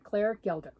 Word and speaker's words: Gelder: this fabulous book Robin octopus and Friends by Claire gelder yep that's how you say it Claire Gilda I got this uh at uh Joanne's I